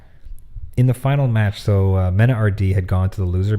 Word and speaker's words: MenaRD: I thought it was supposed to be Menard, but they're just screwing it up. Okay, so it's Mena RD.